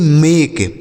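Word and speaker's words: make: एम ए के ई तो एम ए के ई मेक एम ए के ई मेक यम से हो गया म ए का उच्चारण ए की मात्रा और के ई से क लिखा है मेक।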